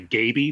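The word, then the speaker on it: Gaby: think with Halo they they said in an early issue that her name rhymes with maybe so I think it's supposed to be Gabby but yeah it is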